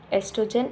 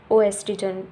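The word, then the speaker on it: oestrogen: हमने सिलेबस में पढ़ा था एस्ट्रोजन एंड प्रोजेस्टेरोन। इसके आगे ओ लगा है। इसका मतलब ये भी नहीं कि हम लोग इसको ओएस्ट्रिजन। ओ एस्टीजन बोलेंगे। इसमें ओ साइलेंट है।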